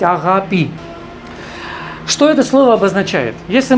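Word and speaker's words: αγάπη: Ну, как правило, в русском языке говорят «агапе», так вот. Вы это можете прочесть и вычитать, и услышать. Но в греческом, конечно, по-гречески правильно говорить «агапи».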